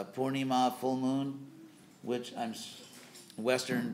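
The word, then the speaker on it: Purnima: pronouncing that for neem it's funny there are three vowels in the in the word poorni ma and Western devotees managed to get all three of them wrong so if you're gonna mispronounce after do it in style anyway so poor Danny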